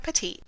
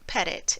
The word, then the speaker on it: Petit: My name is Petit, not Pettit, as many like to pronounce it.